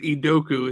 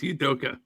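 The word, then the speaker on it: Udoka: shaking your head because you said idoku it's idoka yeah who cares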